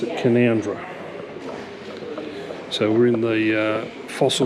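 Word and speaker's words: Canowindra: so that's how you spell it but they pronounce it conundra so we're in the fossil Museum or major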